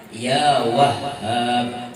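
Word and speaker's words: يا وهّاب: Entah itu bila hendak sugih baca ya Wahhab 300 kali sehari. Awak juga semangat ya Wahhab, hanya batasydid dan pakai alif.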